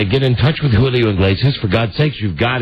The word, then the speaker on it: Iglesias: You said Inglesias. Well, I can say it both ways. Tomato, tomato. Talented. Julio Iglesias. Julio Iglesias. Julio Iglesias. There you go. Julio Iglesias. Yes, but that's incorrect because it starts with an I, not an E.